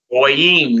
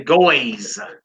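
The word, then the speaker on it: גויים: Goyim, nations. Notice we don't say goys. Goys. Heathens, goys. No, it's goyim.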